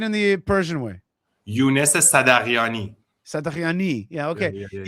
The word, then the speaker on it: Sadaghiani: Well, in Farsi, it's actually Sadaghiani, but we don't have Sadaghiani. the sound in English. So the H is silent, basically.